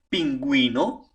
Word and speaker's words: pingüino: Para poder pronunciar la U. Si no lo pones la diéresis, la U no va a tener sonido. Por ejemplo, agüero, pingüino, nicaragüense, desagüe.